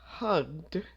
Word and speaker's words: hugged: practice these the lady hugged her child so we have the G sound at the end so we just pronounce this as a d hugged not hugged hugged number two the film